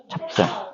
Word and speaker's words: 찹쌀: 어떻게 할 수 있냐면 쌀 혼자 발음할 때는 그냥 혼자 이렇게 쌀 이렇게만 발음 되잖아요 근데요 앞에다가 가 조를 붙여봐요 이렇게 붙이니까 어떻게 바르면 돼요 갑자기 없었던 비이 갑자기 나타나네요이 비이 어두 자군의 잔 흔적들이 찹쌀도 마찬가지죠 찹쌀 그래서 여기 비이 있었던게